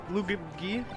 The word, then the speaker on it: Luigi: Luigi, my favorite characters, 100%. My nephews just always pronounce Luigi wrong.